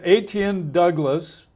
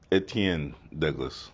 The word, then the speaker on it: Etienne Douglas: back and see it someplace but this is aten Douglas I mispronounce his name almost every time give us the right pronunciation etan Douglas okay well I come close yeah but anyway